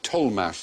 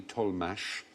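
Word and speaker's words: Tollemache: an aristocratic family here told mash spell tea o WL e ma CH e told mash there was the tol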